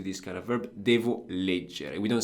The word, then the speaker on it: leggere: about with the fact that the stress is not on the penultimate syllable; it's on the first syllable.